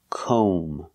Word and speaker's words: comb: like no and go we pronounce this word comb o make the long o sound comb and remember the B is silent don't pronounce the B comb so comb is the